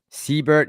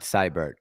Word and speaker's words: Siebert: Just so you just so you know, my last name is pronounced like Siebert, not Seibert.